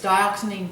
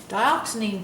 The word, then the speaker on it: dioxazine: wisteria, and it's spelled D-I-O-X-A-Z-I-N-E. And I don't know if I'm pronouncing that correctly, but that's how I pronounce it, is dioxazine purple.